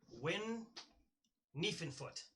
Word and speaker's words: Win Niefenfoot: For my character, my name is Win Niefenfoot. I know that it says Niefenfoot, but the Yar and the Dom is silent. It's just Win Niefenfoot.